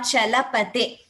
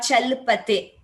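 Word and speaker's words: चलपते: And just one observation, the letters should be pronounced completely. For example, Shri Venkata Chalapate. It is not Shri Venkata Chalpate. Chalapate. Achalapate there.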